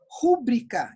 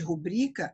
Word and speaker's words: rubrica: Rúbrica, em vez de rubrica, é um erro de prosódia também, porque eu estou alterando a sílaba tônica.